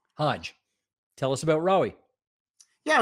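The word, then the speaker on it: Hage: Rory Hae, is that how you say it? Rory Hae. Hodge.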